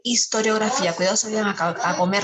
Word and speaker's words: historiografía: Historia e historiografía. Cuidado, se vayan a comer la sílaba como yo me la comí.